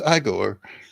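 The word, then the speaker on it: Igor: hum it's PR it's pronounced aore exactly exactly John how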